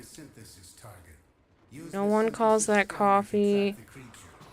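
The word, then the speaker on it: Ko-fi: a cup of coffee if you want to call a Kofi that's fine but it was originally coffee cuz people were making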